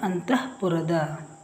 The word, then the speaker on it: ಅಂತಃಪುರ: ಅಂತಹ ಪುರದ ಅಂತಹ ಪುರದ ಇದು ವಿಸರ್ಗ ಅಂತಃಪುರದ ಅಹ ಅಂತ ಹೇಳ್ತಿವಲ್ಲ ಇಲ್ಲಿ ತಹ ಬಂದಿದೆ ಅಂತಃಪುರ ಇದು ನಲ್ನುಡಿ ಲ ನ